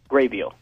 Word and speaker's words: Grabeel: So, by the way, how do you pronounce it? Graybeal.